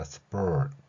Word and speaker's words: sport: 자, S 뒤에 쌍비읍 나왔죠. 그리고 sport 리을 발음하겠습니다. sport 여기에 그리고 나서 티읕을 혀 닿는 소리로 한번 해보세요. 그러면 spurs, spurs 이런 발음이 될 것입니다.